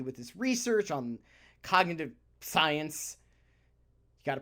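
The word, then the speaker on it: psience: Markey with his research on cognitive science. You got to pronounce the P. Science. You have to pronounce the P.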